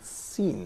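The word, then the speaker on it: سين: And as it says here in the slides, Sin pronounced like Sin, the word Sin in English.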